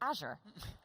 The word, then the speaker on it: Azure: It's Azure.